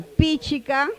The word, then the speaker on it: Pichica: Pichica. La segunda sílaba es abierta. Por lo tanto, se acentúa la primera. Pichica.